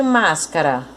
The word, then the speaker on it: máscara: Então, a sílaba tônica de máscara, mas.